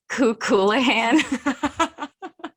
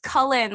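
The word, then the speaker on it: Cú Chulainn: in our morrigan episode i kept calling him kukulahan what's his name found out it's pronounced cullen like the colors from twilight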